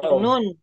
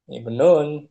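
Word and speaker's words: ابن: Yang betul bacanya. Apa, ibnun. Laki-laki. Nah, ibnun. Bukan abnan.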